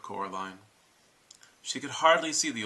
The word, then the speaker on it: Coraline: They keep saying Coraline, not Caroline, not Caroline at all."